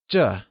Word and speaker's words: 这: This translates to 这 and is pronounced using the falling tone. Can you try and say 这?